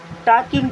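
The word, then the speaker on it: talking: रही है they are टॉकिंग to each other T एच ई why they दे मीस होता है वे आ मीस है टॉकिंग देखि यहां पर एल होता है साइलेंट इसे क्या पढ़ते हैं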